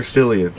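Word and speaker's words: Cillian: is it is it Killian or selan san Killian it's spelled selan but I thought everyone says Killian M okay it might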